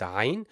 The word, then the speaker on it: ع: And the pronunciation of that letter, it's the equivalent of pronouncing three A's together. So ah, but obviously we don't extend it that much. We just go and pronounce the first part of it.